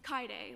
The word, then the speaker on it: Kaide: It's Kaide, like Kaide.